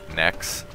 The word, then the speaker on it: Nyx: Nyx?